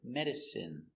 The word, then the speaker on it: medicine: Pronunciation is in. Medicine. Medicine. Medicine is not countable usually.